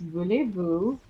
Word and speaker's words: voulez-vous: It's voulez-vous.